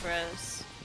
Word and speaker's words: Tris: I just went with Tris. Tris. Like Chris but with a T instead of a C or a K.